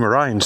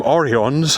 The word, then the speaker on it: Orions: So, I was wrong about that, but for some reason everyone's calling them Oreons. I can only imagine that uh someone heard the script posted out to them, mispronounced it, and everyone had to run with it.